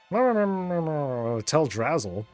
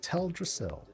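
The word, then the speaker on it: Teldrassil: tell Drazzle and uh and I and I took the feedback. So fine, it's tell Dasil, but yeah, I I'll I'll sometimes get corrected with with Dorn.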